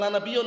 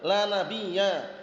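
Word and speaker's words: لا نبيَّ: Bacanya bukan la nabiyun ya, la nabiyya.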